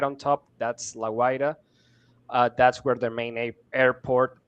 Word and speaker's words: La Guaira: It's a bit difficult to pronounce it in English, La Guaira.